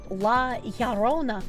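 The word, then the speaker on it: La Llorona: Spanish double L is pronounced like a Y. La Yarona.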